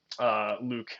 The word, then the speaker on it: LIWC: It's called Linguistic Inquiry and Word Count, LIWC, and they decided to phonetically pronounce that Luke, which I always kind of have to think twice about how to say it because it doesn't look like Luke, obviously.